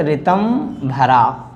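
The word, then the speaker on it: ऋतम्भरा: पे और ऐसे ही ऋतम भरा तो ऋतम भरा की विशेषता ये है कि ऋषि लगा है पूरा लेकिन ऋषि पूरा आएगा नहीं उसमें री का प्रोनाउंसिएशन हो रहा है तो ऋ आर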